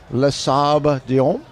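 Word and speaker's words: Les Sables: And you're going to pronounce that for me? Lasab.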